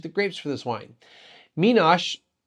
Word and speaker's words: Minas: grapes for this wine menace or mean us however we want to pronounce it not sure which way is correct well google translates as menos but or sorry google translate says the first way but in their video their head wine maker zay luis pronounces it the second way menos so i'm trying to stick with that pronunciation google translate translates or